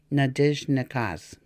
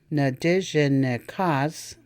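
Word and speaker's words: Nindizhinikaaz: Nadijnakas. Notice that the I in the j syllable has a tendency to fade away and can hardly be heard. Nadijnakas or Nadijnakas. Both are correct.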